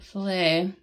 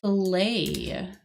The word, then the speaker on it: filet: Filet. So I know that there's a T in here, but it is pronounced filet. Filet. Like that. so we don't pronounce the T here.